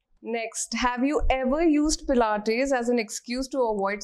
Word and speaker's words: Pilates: Has anyone ever mispronounced the word Pilates in front of you? Always. Yes. Tell us some fun ones. Always, plates. All the time. It's plates, it's pilates.